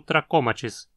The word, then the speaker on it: trachomatis: onde vem o epíteto trachomatis, que significa do tracoma. Sempre que você encontrar palavras terminando em matis, dessa forma, elas serão proparoxítonas.